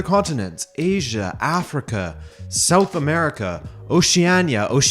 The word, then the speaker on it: Oceania: And then to all of the other continents: Asia, Africa, South America, Oceania actually is what it is. It's a hard C.